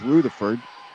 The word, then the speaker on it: Rutherford: That's how she pronounces it, Mark. So when you want to say Rutherford, it is Rutherford.